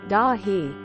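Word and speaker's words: Dáithí: a front-runner when he went to bed comment daithy pronounced dahi it's Irish and very common here Ada the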